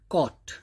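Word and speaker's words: caught: ऐसे ही कॉट, सी ए यू जी एच टी, तो जी एच की साउंड नहीं आएगी, सी ए यू टी, कॉट भी अगर हम बोलेंगे तो भी कॉट ही पढ़ा जाएगा, राइट।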